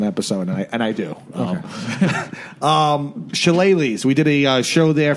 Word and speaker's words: Shillelaghs: Shillelaghs. Yes. You pronounced it actually great.